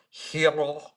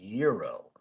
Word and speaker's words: gyro: Oh, uh, is it a New York thing to pronounce a gyro hero, and in Chicago it's pronounced euro?